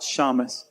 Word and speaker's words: shamash: the Hanukkah miracle, and the How do you pronounce that? Shamash.